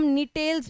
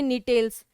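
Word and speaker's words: Gnetales: एक ग्रुप होता है जिम्नोस्पर्म का जिसको हम निटेल्स बोलते हैं। क्या बोलते हैं? जी साइलेंट। इसको हम बोलते हैं निटेल्स।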